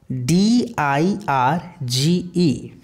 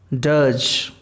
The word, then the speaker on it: dirge: dirge di r GE in British English we don't pronounce this raw sound which comes in a bit rain so it is called dull and that is not Dutch okay does dirge and in American English we pronounces R so this is called dirge so you can say